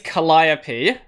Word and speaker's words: Calliope: cali's name so it in english it's calliope but if you spell it in uh katakana it's kali okay and um she